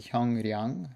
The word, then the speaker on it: 형량: that they're spelt, and this is one word, 형량, so it's spelled like 형량, but it's pronounced with a niun, 형량.